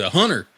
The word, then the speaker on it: Hunter: in the south and in the South they don't pronounce the T they'll be Hunter Hunter come over here he